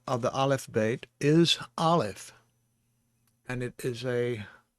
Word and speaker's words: Aleph: This is a Segol under the Lamed and the Kamatz under the Aleph. This is the key to helping us pronounce the word. The Kamatz has an ah sound, and so does the Patak.